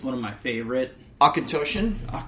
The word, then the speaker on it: Auchentoshan: Auchentoshan? Let's just go there. That is correct, because I've had somebody... Because it's Gaelic.